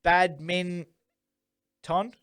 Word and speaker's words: badminton: i can keep the bad min ton yeah that's it badminton yep that's just that word's a three-syllable word to me now it's not a joint word i've got to [